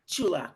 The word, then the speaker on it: Sulak: Am I saying it right? Close enough. Sulak. Chulak. Okay, see?